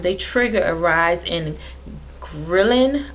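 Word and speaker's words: ghrelin: trigger a rise in thrilling I'll make sure I'm saying that right it's spelled g-h-r-e-l-i-n grilling which is a hormone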